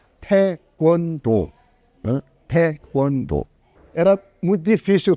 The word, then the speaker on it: taekwondo: Pronúncio correto em coreano seria taekwondo, né?